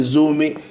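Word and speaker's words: Zurmi: I didn't pronounce it well. She thought I meant Zuru. He said, how dare you call my town, small village? He said, I'm from Zuru. And I said, well, this is Zuru. And she now pronounced it well. She said, Zurumi.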